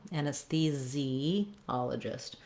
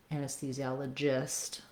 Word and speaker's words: anesthesiologist: at the end, or anesthesiologist, if you're talking about the specific doctor. Okay, anyway, building from the stress syllable, ologist, and that is something good